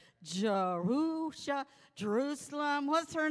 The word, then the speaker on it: Jerusha: got that name good and down today it's jerusha and i love this girl she's my uh